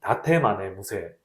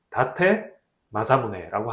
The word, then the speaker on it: 다테 마사무네: 전국 통일을 할 때 다이묘 중에 하나였던 이 다테마네 무세, 미안합니다. 다테 마사무네라고 하는 분하고 뗄래야 뗄 수 없는 관계에 놓인 게 이 센다이시라고 해요.